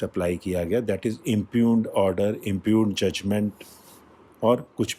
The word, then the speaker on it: impugn: Next is इम्प्यून, IMPUGN. इसमें G silent होता है.